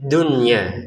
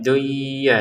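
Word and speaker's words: الدنيا: Jadi dibaca dengan jelas fit dunya. Jadi jangan dibaca fit duya ya. Jangan seperti itu. Kenapa? Karena nun sukun dan ya-nya ini berada di dalam satu kata.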